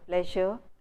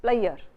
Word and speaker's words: pleasure: speakers in Punjab always tends to pronounce the word pleasure as player, leisure as layer.